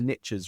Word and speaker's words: niche: And as the Americans say, it doesn't work in England because we pronounce it differently, but the riches are in the niches, right? We pronounce it niche in the UK, so it really falls apart when you say it here because everybody just laughs at you.